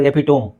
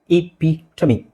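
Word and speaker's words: epitome: ಇದೇನು ಸರ್ ಎಪಿಟೋಮ್, ಅದೇನು ಓದುವುದಲ್ಲ, ಈಸಿಯಾಗಿದೆ. APEPTO ಎಪಿಟೋಮ್. ಬಟ್ ಅದ್ರ ಸರಿಯಾದ ಉಚ್ಚಾರಣೆ ಏನು ಗೊತ್ತಾ? ಇಪಿಟಮಿ. ಏನು? ಇಪಿಟಮಿ, ಇಪಿಟಮಿ.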